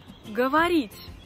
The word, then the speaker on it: говорить: Говорить. Говорить. Говорить, c'est le verbe parler. Говорить. Говорить. Les voyelles O qui ne sont pas accentuées deviennent A. C'est pour ça qu'on prononce говорить. Говорить.